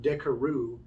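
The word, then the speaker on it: Carrouges: it all up but in the movie they call him decaroo and adam driver is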